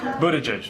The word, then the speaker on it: Buttigieg: Best way to pronounce your last name? Buttigieg, but around South Bend they just call me Mayor Pete, and that's fine with me.